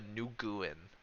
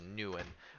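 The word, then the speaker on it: Nguyen: I know the G. It's not Papa Nuguin. You don't pronounce the G. So Mm, it's just Nuen.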